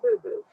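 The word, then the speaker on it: Bubu: And when the grandchildren came, she became Boo Boo. As she would say, that is spelled B-U-B-U.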